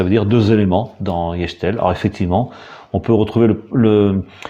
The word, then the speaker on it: Gestel: Alors, Yechtel, voilà sa prononciation en breton actuellement.